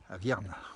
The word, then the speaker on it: Aviernoz: Aviernoz c'est du côté d'Annecy, c'est presque l'avant-pays, belle région aussi, Avierne, comme on dit, en savoyard. On ne prononce pas le OZ ni le AZ, on le rappelle au passage.